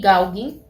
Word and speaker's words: Gauguin: Vamos a estudiar estos dos, Van Gogh y Gauguin, que se pronuncia de esa manera, postimpresionistas, y vamos a estar estudiando a Seurat, George.